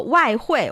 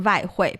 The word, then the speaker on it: 外汇: So the W sound is the more formal one, but the V sound is the more perhaps colloquial, everyday spoken Because usage.